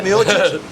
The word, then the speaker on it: Miocic: Like this fight that's coming up, the fight with, we have next UFC, we have Cormier and Miocic. How do you say his name? Miocic? Miocic? Yeah, Miocic.